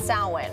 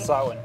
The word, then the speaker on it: Samhain: So you just said it's pronounced Samhain, right? Samhain.